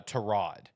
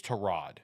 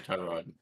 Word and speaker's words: Tyrod: Uh that is Trod is how you pronounce it. Baker Mayfield. Uh yeah, Baker Mayfield clarified that when he was asked about Trod, and he said, "Well, first off, his name is Trod, but he's too nice